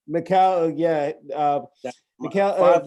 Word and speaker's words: Mikal: have to ask uh yeah coach campbell to pronunciation your first name i forgot to ask him macau macau yeah uh michael five letters five letters was